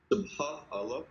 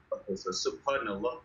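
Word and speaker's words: سبحان الله: Subha Allah. Okay, no. And then you see the word N there. You have N. N for Nathan, right? Subhanallah.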